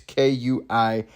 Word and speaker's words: quinoa: I don't know how to pronounce that word. It's Kuinoa.